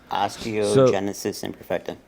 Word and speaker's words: osteogenesis imperfecta: It's called osteogenesis imperfecta. That's how you say it? Right. It's osteogenesis imperfecta.